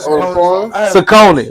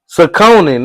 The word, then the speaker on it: Saucony: I had Saucony. What about Oh, Saucony? Oh, yeah, that's my Saucony? shit, though. Saucony, It's nigga.